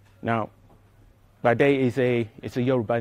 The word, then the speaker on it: Pàdé: new software project called Pàdé. Now, Pàdé is a Yoruba name. And when you pronounce P in the Yoruba language, it has to sound explosively.